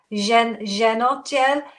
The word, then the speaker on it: Zhenotdel: Zhenotdel. It's an abbreviated form. Zhenshina is woman. Otdel is department.